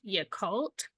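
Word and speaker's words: Yakult: um as I know I'm not gonna say it right it's y cult it's spelled y a k u l t so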